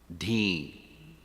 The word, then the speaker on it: dhi: Udhara, dhi, that syllable, dhi, like buddhi.